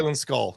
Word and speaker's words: Baylan Skoll: Is that how you pronounce it? Yeah, Baylan Skoll.